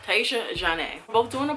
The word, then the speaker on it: Tyiesha: I always say her name wrong. TYIIESHA ZHANE.